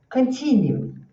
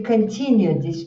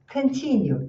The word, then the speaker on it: continue: E aqui observe a pronúncia. Este J é o som I. E esse U é um u tenso que tem u continue. E não é continue. É aqui, ó. continue, forget, da mesma maneira, tá?